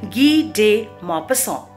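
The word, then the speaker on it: Guy de Maupassant: author is a french and his name is pronounced as gi de mapassang now he wrote this story in the year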